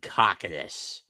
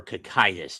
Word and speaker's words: Cocytus: Frozen in the depths of Cocytus or Cocytus, depending on how you want to pronounce it.